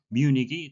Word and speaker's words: Munich: 결승전 장소는 뮤닉이 되겠는데요. 우리말로는 뮤이라고 하는데 이것은 독일식 철자의 발음이고요. 영어식 발음은 뮤닉이 되겠습니다.